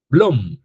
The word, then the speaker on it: Bloom: Bloom se escribe con doble o I m. Bloom. Blom. La taxonomía de Blom es este cuadrito que ustedes están viendo acá.